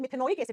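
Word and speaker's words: मेथेनोइक एसिड: ओइक एसिड, जैसे मिथेनोइक एसिड, example दिया ना मैंने, मिथेनोलिक थोड़ी होता है, मिथेनोइक एसिड, इथेनोइक एसिड, है ना।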